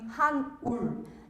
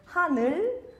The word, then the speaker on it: Han-ul: name, which is Han-ul. Disclaimer, Korean people get my name wrong too. They think my name is Hanul, not Han-ul, right?